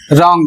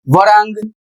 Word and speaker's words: wrong: Next word है रॉन्ग और इसका सही प्रोनाउंसिएशन रॉन्ग होगा। यदि वरांग या कुछ और इसके अतिरिक्त आप बोलते हैं तो गलत बोलते हैं और इसका जो अर्थ होगा वह होगा गलत।